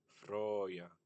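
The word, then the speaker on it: frauja: And here we have Froya. So this is reconstructed of as being a has having been pronounced Freya.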